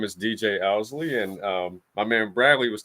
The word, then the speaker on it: Owsley: And I apologize for the mispronunciation. I know it happens daily. My name's DJ Owsley.